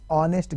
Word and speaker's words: honest: She is dash honest girl. H is always honest, H is silent when it goes with vowel. So she is an honest girl, he is a European, EU makes European, yak kommiste you andi.